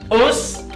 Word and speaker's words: us: Us se dice con vocal relajada, no es con vocal tensa.